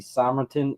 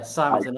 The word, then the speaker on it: Simonton: Got an awesome guest interview with Simrton. Is that how you say it? I'm sorry. It is. Yeah, Simon. All good.